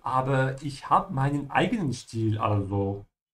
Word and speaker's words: Stil: Ja, esti ist st, Stil.